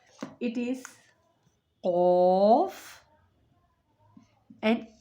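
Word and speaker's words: قاف: It is qaf and kaf. Qaf and kaf. Qaf and kaf are both pronounced from the root of the tongue.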